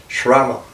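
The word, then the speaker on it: श्रमण: And the word we use for shaman has come from this word, actually pronounced in Sanskrit as Shraman, like that.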